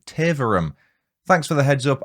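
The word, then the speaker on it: Taverham: I said River Bur when the correct pronunciation is Bure or Bure, depending on your accent. I also said Taverum when I should have said Taverum.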